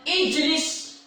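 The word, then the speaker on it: اِجْلِسْ: Hamzah wasal, jim, lam. Apa huruf ketiganya? Lam. Lam baris apa? Lam baris bawah. Ketika mana lam baris bawah? Hamzah wasalnya juga baris bawah. Jadi bacanya apa? Ijlis.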